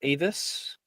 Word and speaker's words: Avis: Uh yeah, it's pronounced Avis, specifically connected to the word aviary, kind of like birds and whatnot because it's a conjuration spell for different aven species.